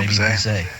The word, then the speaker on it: Bizet: how to pronounce this composer's name, but it's spelled like Bizet. Oh, Bizet.